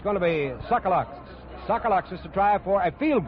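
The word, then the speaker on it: Tsagalakis: He spells his name T-S-A-G-A-L-A-K-I-S and pronounces it Sokoloxis.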